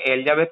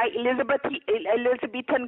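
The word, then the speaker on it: Elizabethan: एलिजाबेथ collar नहीं होता, एलिजाबेथन collar होता. आपको तो प्रोनाउंस करना भी नहीं आता.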